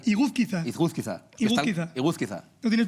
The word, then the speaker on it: Iguzquiza: Iguzcar... Iguzquiza.